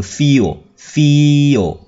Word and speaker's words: feel: sau nó là từ feel nó là âm y dài feel các em rất hay đọc sai từ này Toàn đọc thành ph fail nghĩa là làm đầy